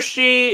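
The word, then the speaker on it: sidhe: Yeah, so a fear she is, well, as the name implies, it's a she, S-I-D-H.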